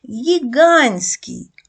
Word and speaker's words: гігантський: Т ми додаємо сіки хоча при вимові буква т не вимовляється гігантський А на письмі вона пишеться тобто в вимові вона спрощується а на письмі буква Т